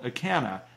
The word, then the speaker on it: Acana: Another brand that's made by the same company is called Acana, and I believe that's spelled A-C-A-N-A.